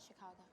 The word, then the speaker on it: Chicago: Outside Chicago, we roamed all It's around. the emphasis on the second syllable. Borrowed from the French.